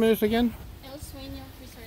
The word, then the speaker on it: El Seuno: I'm here at, how do you pronounce the name of this again? El Seuno Resort. El Seuno Resort.